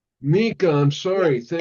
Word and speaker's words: Nicca: And if you don't mind, my name is pronounced Nicca. Nicca, I'm Yeah, sorry.